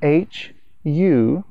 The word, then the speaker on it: HU: another syllable that is not as well known it's spelled h u and it's pronounced hu here are some of